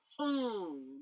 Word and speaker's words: Hung: And the mantra we're going to use with it is Hung, H-U, and then M, but we're going to do Hung, that anuswara pronunciation.